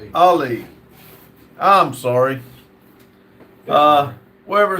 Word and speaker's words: Ali: Uh Ali says, "Bro, you always pronounce my name wrong. Haha. Remember the boxer Muhammad Ali." Ali. Ali.